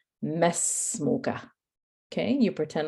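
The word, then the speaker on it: ما اسمك: However, when there is a word before it, you don't pronounce the alif. Okay, so make a little note of that. You don't pronounce the alif. That's why he says mesmuka.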